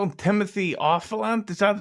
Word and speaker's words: Olyphant: Timothy Olyphant? Is that how you pronounce his Oliphant, name?